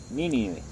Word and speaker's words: Nínive: mi nivel será destruida mi nivel con acento en la primera es mi nivel nínive y los hombres de